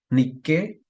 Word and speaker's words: Nike: que esa es la la niqu griega No ni que la marca Nike que usan acá los tenis y eso y